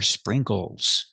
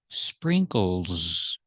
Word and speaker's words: sprinkles: These are sprinkles. So we have the same sound, sprinkle. We put the S. The S makes the Z sound like zebra. Z. So the last S is Z together. Sprinkles. Sprinkles.